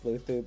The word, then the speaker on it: Luzu: So, how would LuLuzu pronounce it? It's Luthu because of the Spanish accent.